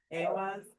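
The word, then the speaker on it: Ehwaz: You know, looking at it now, like this is Awaz. It's the accent on the first syllable.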